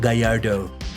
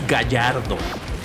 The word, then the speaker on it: Gallardo: I love that I keep pronouncing it English like Gallardo. The pronunciation is Gallardo.